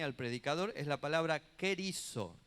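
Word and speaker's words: κηρύσσω: La palabra griega que define al predicador es la palabra kerizo. Se escribe con K, no tengo el pizarrón hoy. R, Y, acento en la Y, S, S-O, kerizo.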